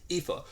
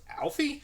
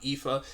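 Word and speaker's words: Aoife: woman in the wall her name is epha which looking at that name my IMM think was Alfie that I thought it was like a different spelling of Alfie I would never gotten epha it's just kind of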